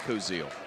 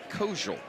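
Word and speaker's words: Kozeal: Looks like Kosil. Kosel is actually how it's pronounced.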